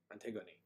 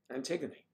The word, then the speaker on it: Antigone: gonnae aren't they going Antigone Antigone antiquity's sounds like two syllables oh it's a one two three four syllables for mmm it's a